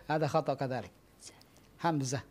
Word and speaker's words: Hamzah: ismuhu hamzatu ismuhu hamzatu ada beberapa ejaan yang Salah Nama saya ada yang bilang hamsah ada khot ada yang bilang hambiah ada asadu khotan ya betul Hamzah n Hamzah bukan sin bukan bukan hambiah ada KH kadalik Hamzah